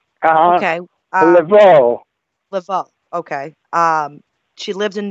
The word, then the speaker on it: Laveau: Is that how you pronounce it? Right. Okay. Laveau.